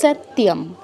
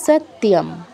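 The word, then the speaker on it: সত্যম্: আরেকটা কোথায় যেন হ্যাঁ সত্যিম সৈত্যম নয় সত্যিয়াম ঠিক আছে স এর পর ত আছে তো আমরা ত বলবো ই আনবো না এক্সট্রা সত্যিম আর অনুস্বরের পর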